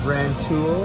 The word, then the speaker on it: Rantoul: It's Rantoul. Oh yeah, Rantoul. That's close to where I grew up. Yeah, Rantoul. The military base is there. That's Terry B. And Analog Outfitters moved to Rantoul from Champaign, and they sell vintage, homemade guitar